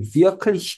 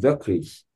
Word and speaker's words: wirklich: 그러니까 여기 비아클리시 같은 경우도 이게 이가 좁은 이가 아니고 자음으로 끝나니까 열린 이 발음으로 되겠죠. 그러면 이게 비아클리시 이렇게까지 꼼꼼하게 발음하지 않고 거의 이와 으 사이 발음으로 실제 독일 사람 그냥 wirklich 그 정도까지 이를 뭉개서 발음합니다.